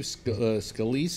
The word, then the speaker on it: Scalise: Representative Steve Scalise, is that how his name is pronounced? Yeah.